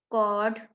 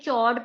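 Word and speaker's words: chord: of equal length first कॉड इसको कड pronounce करना है कोई सीच को सीच कुछ बच्चे क्लास में चड प्रोनाउंस करते थे चड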